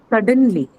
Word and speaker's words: suddenly: Then comes suddenly. Sudden. Suddenly. Sudden. Suddenly, what category is this? Suddenly? Suddenly something. It would be an adverb, ma'am. Adverb. Suddenly is an adverb. Hence, the stress is on First syllable.